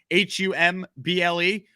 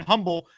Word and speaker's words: Humble: it's called humble texas it's spelled humble h-u-m-b-l-e but the h is silent so it's humble texas